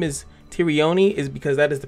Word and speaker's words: Tyrione: the reason why I say her name is Tyrion is because that is the pronunciation that they gave me uh the way